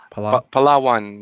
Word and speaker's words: Palawan: the world you were telling me about the palawan cave how do you say it palawa palawan yeah palawan yes that's it have you been